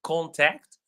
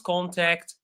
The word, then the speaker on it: contact: unnoticeable but it's there it's more visible in the two words contact I have his contact I will contact you and in the word